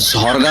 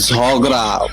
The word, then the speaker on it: ঝগড়া: ঝড়গা হয়ে আরে খ্যাপ্পাচুরি মাসি, ওটা ঝরগা না, ওটা ঝগড়া।